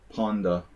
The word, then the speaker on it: panda: Panda is something I always thought was funny because I live in Hungary, and Hungary panda, what we say panda in English, is pronounced ponda. So it sounds like pawn.